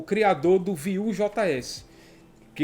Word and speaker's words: Vue: Vue é uma palavra em francês que significa view, né? Seria a pronúncia como view.